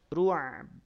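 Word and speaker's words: الرعب: tadi Fi qulubihimur ru tidak ru ru ru ruab ruab kalau ruab kalau cara bacanya demikian ainnya ada tapi bnya jadi hilang Fi qulubihimur sedangkan Ba saat wakaf dia punya sifat apa memantul punya sifat Qalqalah ahah gitu ya jadi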